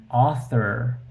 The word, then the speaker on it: author: uh the in English the word author is pronounced like all even though it's written like a a u author this is really